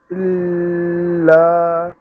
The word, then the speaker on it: إلا: আবার ইল্লা ইতে কোনো টান হবে না, ইল্লা লাতে টান হবে।